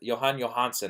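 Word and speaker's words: Jóhann Jóhannsson: johane johansson is there johann johannsson i believe is how you pronounce his name he he's just he's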